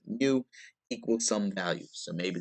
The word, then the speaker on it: mu: that's why it's got that greek u or i'll pronounce it mu equals some value so